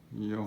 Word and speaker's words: 幼: Yo. So E O 幼. Yo. So that's the fourth tone.